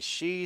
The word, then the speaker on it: SHI: And is that really how they say it? She Stadium? SHI, She Stadium.